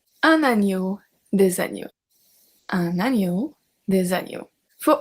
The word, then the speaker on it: agneaux: We obviously don't pronounce the X, un oiseau, des oiseaux, un agneau, des agneaux, un agneau, des agneaux.